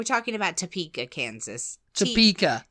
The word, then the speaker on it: Topeka: of that yeah uh topa topa get out TOA topa topa for it to be topa it would have to be CK we're talking about Topeka Kansas topa t o